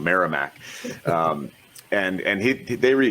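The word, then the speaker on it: Merrimack: who is the head coach of marac uh maram I I I I I I I've told I pronounced that wrong miramac um and and he they he rebuilt that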